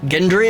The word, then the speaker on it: Gendry: but I'll tell you, Old Norse never had a soft G. It's always G, never J. For a G in Old Norse. He's like, Gendry it is, whatever, I don't care, man.